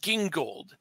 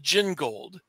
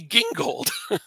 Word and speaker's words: Gingold: did but yeah by the way does I pronounce it gingold and when they put it on The Flash TV show they called it Jing gold that doesn't make any sense because it's the